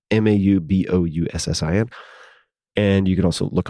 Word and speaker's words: Mauboussin: I believe that is how you pronounce his name. Maubouussin.